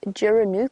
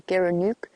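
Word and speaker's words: gerenuk: I was looking at photos of an antelope called a Geranook or a Geranook, depending on where you are and how you pronounce it.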